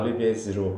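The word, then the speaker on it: Olivier Giroud: OUD로 돼 있으니까 OU면 우 발음 나는 게 자연스러우니까 올리비에 지루.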